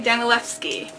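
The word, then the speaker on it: Danielewski: Danilevsky. Yes, the W is pronounced as a V.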